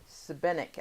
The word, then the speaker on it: Šibenik: And how you had the pronunciation when during that video? Šibenik, I think he said.